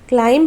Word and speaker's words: climb: Climb नहीं बोलते हैं, climb हम लोग नहीं बोलेंगे। B is silent letter, so we will pronunciate climb.